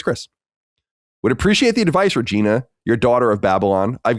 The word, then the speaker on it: Regina: The city in Canada spelled Regina is actually pronounced Regina.